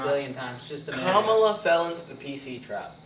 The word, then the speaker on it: Kamala: mispronounce it? Yeah. Oh, dude. What was it? Kamala. Kamala. Who knows how many times? I probably did it a No. billion times just to make Kamala fell into the PC trap.